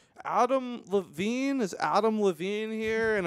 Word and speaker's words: Levin: Levin. You're not Levine. I did it. I'm that guy today. No. Every day somebody says his name wrong, and it was bound to be my turn in the barrel. Yeah, I'm sorry, it's Levin. It's fine. Yeah, wow. There's no E at the end.